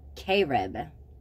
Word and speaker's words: cherub: the second is is a cherub but it's pronounced Carib see it's c-h-e-r-e-b and then the pronunciation is